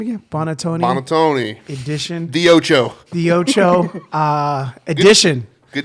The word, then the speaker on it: Buonantony: Buonantony.